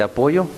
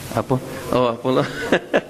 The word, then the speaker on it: Apolo: O en español, ¿cómo se dice? ¿Apoyo? Apolo. Porque hay dos L's en inglés.